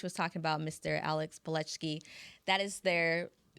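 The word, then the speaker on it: Palczewski: Alex Pletchki. That is their fourth. Pletchki, I believe it's spelled with a, but sounds like E when I was at least that's what the announcers were saying.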